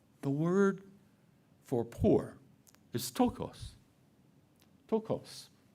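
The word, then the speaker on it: πτωχός: The word for poor is tokos.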